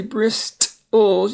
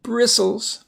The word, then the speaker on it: bristles: Notice you don't say bristles, it's just bristles, like on a brush.